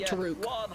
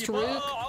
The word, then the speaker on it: TRK: By the way, the way that they pronounce TRK is actually Taruk. It's Taruk, Killers, and Ross.